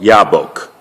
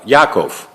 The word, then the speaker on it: Yaakov: like the river of ya book ok ya book look at the word ya book spell it you'd Bay's cuff ok what is that word almost like book here no Yaakov yeah ok he crossed